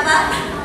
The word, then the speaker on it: Bach: Se pronuncia Bach.